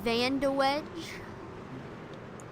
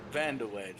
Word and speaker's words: Van de Waage: How do you pronounce it, Allie? It's Brandon Van de Wedge. Van de Wedge, that's right.